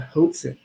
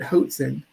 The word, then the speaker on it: Hoatzin: While these birds are bad at flying, evolutionists have been forced to credit Hoatzin, rhymes with Watson's, with some impressive rafting.